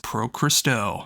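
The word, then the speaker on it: Pro Xristou: with Pro Christo, and if you don't know how to pronounce that when you look at the name, it is the very first syllables you hear on the album. It says Pro Christo.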